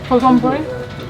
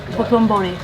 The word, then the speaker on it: Dotonbori: Dotonbori? Huh? What did she call me? Dotonbori.